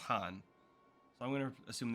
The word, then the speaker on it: Khan: So I'm going to assume that this word's pronounced Hatun because we heard somebody say Khan earlier and it was pronounced Han.